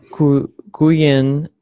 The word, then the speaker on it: quién: ¿Quién es el primo de Marcos? Okay, and it's quién. Okay. Quién. Q-U makes similar sound like in English. Q. Quién.